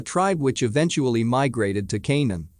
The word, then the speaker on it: Canaan: which eventually migrated to Canaan pronounced Kanan with the k sound of the serpents a